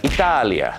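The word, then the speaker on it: Italia: อิตาลี นั นะ ครับ ประเทศ อิตาลี เขา จะ ออก เสียง อย่าง งี้ ครับ แล้ว เขา จะ สะกด แบบ นี้ นะ อิตาเลีย นั่น เอง ครับ อิตาเลีย เห็น มย ดัง นั้น สำเนียง ไทย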